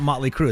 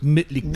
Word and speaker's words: Mötley Crüe: It's like Mötley Crüe. Yeah. It's not really not Motley Crue. It's Mötley Crüe. Yeah, if you pronounce it the correct way.